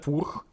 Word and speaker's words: Furch: Фурх, чешская компания, именно так это произносится. Не спорьте, именно Фурх.